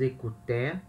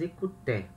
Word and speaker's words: écoutaient: AIENT. E se pronuncia é, tá? Então, ils écoutaient, elles écoutaient, tá? Écoutaient.